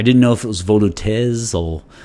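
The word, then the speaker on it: Volutes: but it i didn't know if it was vodotes or veloutz or volois i didn't know and actually i looked up the pronunciation in today and it's um voldu and it apparently means scrolls in uh french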